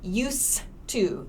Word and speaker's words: used to: pronunciation you will hear use to this d sound is very very short and soft so you we generally